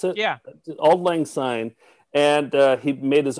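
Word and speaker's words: Auld Lang Syne: together he wrote a a piano piece to old lane sign is that how you pronounce it yeah old lang sign and uh he made his own lyrics to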